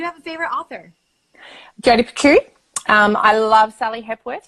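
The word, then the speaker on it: Picoult: jody's last name because i started out calling her jody piccult and i know that's definitely not the way to pronounce it but i think you can't say um jody pico oh really oh there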